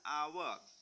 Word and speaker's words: hour: Tetapi di sini a house, tapi yang bawahnya adalah an hour. Bacanya bukan an hour, tapi an hour.